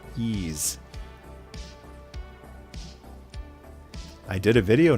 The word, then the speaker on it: Ys: Everybody knows how to pronounce this now because if you pronounce it wise, you're going to have a whole bunch of people jumping on you, correcting you. Um, actually, it's pronounced ease.